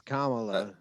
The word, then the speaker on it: Kamala: or is it kamala it's kamala kamala it's like comma a lot that's what everyone yelled